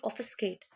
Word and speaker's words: obfuscate: अब यहाँ पे जो obfuscate, the pronunciation B silent, obfuscate.